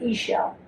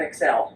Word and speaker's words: Ixchel: I-X-C-H-E-L. But you pronounce it E-shell. Not Excel.